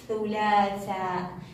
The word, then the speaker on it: الثلاثاء: مباشرة عندما تكون عندي حركة الشدة بعد اللام أخفي اللام بيدي وأقول الثلاثاء، الثلاثاء، لا يخرج صوت اللام، لا يخرج صوت اللام، لا نقول الثلاثاء، صعبة علينا، الثلاثاء، الثلاثاء.